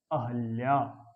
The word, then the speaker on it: अहल्या: अब जब अहल्या बोलेंगे, बहन बोलेंगे, वापस बोलेंगे, द्वारका बोलेंगे तो लिखेंगे भी शुद्ध। जब हम बोली द्वारिका रहे हैं, अहिल्या रहे हैं, वापस ये बोल रहे हैं तो फिर लिखेंगे भी तो गलत हम, ठीक है।